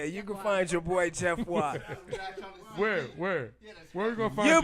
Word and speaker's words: Geoffroy: No, it's Jeff Watt. It's called French Persuasion. You know Creole.